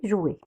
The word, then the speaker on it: jouets: Le S à la fin, on ne le prononce jamais.